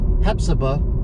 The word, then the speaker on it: Hephzibah: Pretty sure I say it the right way. That's how they say it around here.